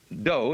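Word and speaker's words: 道: Do is the way the Japanese pronounce Dao.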